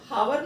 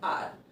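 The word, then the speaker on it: hour: क्योंकि इसको हम लोग हावर नहीं पढ़ते, हम लोग इसको क्या पढ़ते हैं, आर, हाफ एंड आर।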